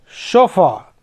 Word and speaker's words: chauffeur: फिर CHAUFFEUR, शोफा।